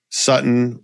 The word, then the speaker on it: Sutton: I told you earlier on this season, Courtland Sutton, household name, Sutton rhymes with button.